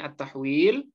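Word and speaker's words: التحويل: Huruf "H" ini dibaca sebagai " attahwil".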